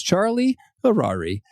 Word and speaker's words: Charlie Harari: It is Charlie Harari. It rhymes. It's fun.